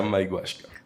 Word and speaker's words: Maiguashca: Pero eso te iba a decir, que yo te lo diga no garantiza que lo vas a pronunciar bien. Yo llevo 48 años entrenando. Maiguashka.